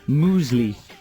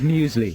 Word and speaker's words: muesli: just to tease people how about uh mu musli instead of muesli yeah mosley is that